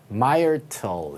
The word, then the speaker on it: Myrtle: 자, 그래서 자, 요거는 뭐라고 읽어야 될까요? Myrtle 이렇게 읽으면 되겠죠, 그죠?